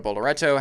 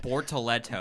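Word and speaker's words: Bortoleto: Gabriel Bolerto had a DNF. And Bortalto.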